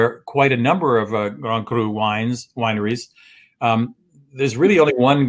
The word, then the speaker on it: Grand Cru: In France there are these gradations of wine, with Grand Cru being. How do you pronounce it, Miss May? Say it again. Grand Cru. Grand Cru, right? Like something stuck in the back of your throat.